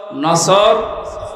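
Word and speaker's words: نصر: এই জন্য তেলাওয়াত যখন করবেন সোয়াদ উচ্চারণটা মুখ গোল করা লাগে।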